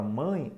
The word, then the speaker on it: mãe: uma emissão de som por isso nessa palavra mãe Apesar de eu ter a letra é o som é de i semivocal na palavra pão Apesar